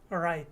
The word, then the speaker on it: right: Instead, when I said that final T, my tongue was stopped at the top of my mouth. That's why we call it a stopped T.